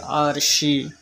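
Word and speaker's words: 二十: China ভাষায় উচ্চারণ হবে আরশি চায়না ভাষায় উচ্চারণ হবে আরশি 30 বাংলায় উচ্চারণ হবে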